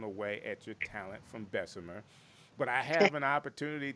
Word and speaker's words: Bessemer: I mean, you really are, and it's Bessemer. It's Bessemer. I was trying to pronounce it like I was from Opelika, though.